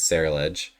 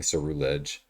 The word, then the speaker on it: Ceruledge: My favorite Pokemon is Ceruledge. And I know I say it wrong. I say it wrong because it rolls off the tongue better. I don't like saying Cerulege.